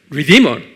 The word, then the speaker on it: redeemer: redeemer. 입으로 하면 redeemer, 액센트가 D에 있어요. 그래서 한국말로는 대속자다.